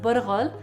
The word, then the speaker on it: bulgur: If you've ever made tabbouleh and bought bulgur, pronounced burghul, and then wondered, what else can I do with this?